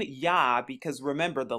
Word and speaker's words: Yah: But as you see, and you'll see in the KJV today, that instead of I-A-H, it's spelled J-A-H. But like I said, it's pronounced Y-A-H, or Yah, or Yahuwah.